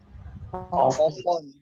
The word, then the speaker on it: often: So this T is silent, and so you people can call it often.